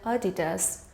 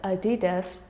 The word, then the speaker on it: Adidas: The debate between Adidas and Adidas continued to rage online, but it is pronounced Adidas with the emphasis on the second syllable, not Adidas.